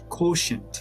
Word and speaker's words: quotient: How to pronounce Quotient, quo, quotient. quotient?